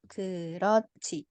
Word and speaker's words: 그렇지: Geroci.